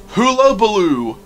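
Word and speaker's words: Hullabaloo: So event number one is half-term hula-baloo. That's how it's pronounced.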